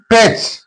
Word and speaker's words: patch: Then patch. T is followed by CH. So T is silent here.